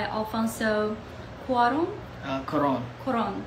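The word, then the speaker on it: Alfonso Cuarón: until march 15 2002 and then directed by alfonso uh quran that's how you pronounce it if i pronounce it wrong please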